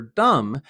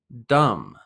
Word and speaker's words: dumb: remember the pronunciation for Dum is without the B we just say Dum don't pronounce the b one more time Dum